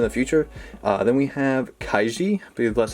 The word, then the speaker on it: Kaiji: too much in the future then we have kaiji that's how you pronounce it gambling manga picked it up recently